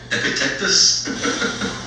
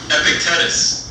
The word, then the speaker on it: Epictetus: going to pronounce it Epictetus? Epictetus. It sounds like a vaccine shot. It does. Epictetus. It's that C going into a T that's getting you. Yeah. It's just Epictetus or Epictetus. I think Epictetus is what we should go with.